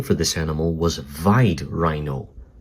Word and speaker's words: wyd: Wide is a Dutch word meaning wide, referring to their square-shaped or wide lip. But when English explorers came to Africa, the story goes they mispronounced it as white rhino and the name just stuck.